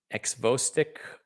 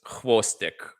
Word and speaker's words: xvostik: I'm an idiot uh it's a Russian X so it's htic wow sometimes I'm so stupid I amaze myself sotic here uh with shadows at 3:00 a.m.